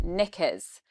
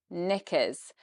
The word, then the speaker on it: knickers: Now here it's on knickers, knickers. Now we've got lots of sounds going on in knickers. So the K is silent, but then we have I sound is very quick and quite low in pitch.